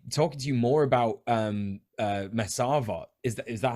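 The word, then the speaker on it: מסרבות: First of all, my name is pronounced, as in, yeah. Yeah, that's part one, and it's Mesarvot.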